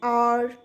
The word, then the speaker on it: hour: The next one, before words beginning with the silent letter H, then again we use article an. For example, beta, an hour, an honest person.